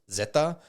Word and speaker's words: Zeta: the ferales in Spanish the letter Z is pronounced Zeta and so they named